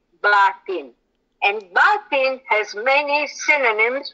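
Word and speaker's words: باطن: must correct everybody's pronunciation say that the word is actually batin and batin has many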